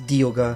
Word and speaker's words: Dialga: that a lot, I should know the proper pronunciation. Dialga. Alright, so it's a D. It's Dialga. I thought it was like dial, like a clock, because it's time. Dialga.